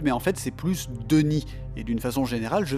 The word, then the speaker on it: D'ni: Atrus est donc un damné qui parle damné à damné. Je prononce ce mot damné car j'en ai pris l'habitude, mais en fait c'est plus Denis, et d'une façon générale je vais mal prononcer